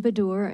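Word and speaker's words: Baddour: and and I may be I may mispronounce badur b-a-d-d-o-u-r okay and state your name your position on the bill and your title um thank you chairman my name is bedor and I'm the director of the fair Financial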